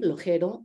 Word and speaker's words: Lojero: The X in Spanish in Mexico can be pronounced as X, as J, like my name, Lojero, Mexico, and also as sh, like in Uxmal.